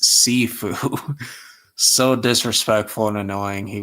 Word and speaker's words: Sifu: Victor annoyed and irked me the way he said Shifu when it is pronounced Sifu.